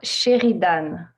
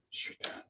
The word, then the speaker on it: Sheridan: It's pronounced the French way, is it? Yeah, Sheridan. Sheridan.